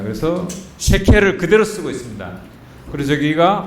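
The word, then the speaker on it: שקל: 세겔이 있었죠. 원래 발음 쉐켈입니다. 그래서 쉐켈을 그대로 쓰고 있습니다.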